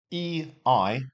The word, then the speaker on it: Ei: E-I, pronounce the I. So in this instance, we've got E-I. So you just pronounce the letter I in English. So ein Ei. That's all you say.